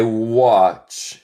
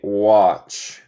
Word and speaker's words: watch: I watch TV. Nota mi pronunciación. El T es muda. Se dice watch.